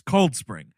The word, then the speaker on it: Cold Spring: of that town the the accentuation is on the word cold not the word spring it's cold spring yeah everyone in this movie is cold spring hey we're going a cold spring we're going to cold